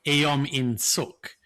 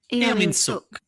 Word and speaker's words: Eom In-suk: So it's EOM. EOM. In like the English word in, but with a capital I. Yeah. And suk like wah. Yeah. But with a capital S. Yeah. Right. Eom In-suk.